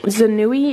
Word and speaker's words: Zanui: I bought it from Zanui. It's spelled Z-A-N-U-I.